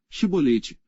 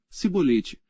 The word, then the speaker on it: chibolete: não então lhe diziam dize pois chibolete porém ele dizia cibete porque não o podia pronunciar bem então pegavam dele